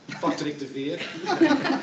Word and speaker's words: Patrick de Veer: Okay, now the next one I can pronounce, Patrick de Veer. That's Flemish pronounced, by the way.